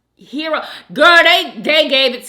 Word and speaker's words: gyros: people up in her the Gyros are usually pronounced hero girl they they gave